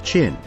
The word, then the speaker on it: Qin: It is written as Qin but pronounced as Qin.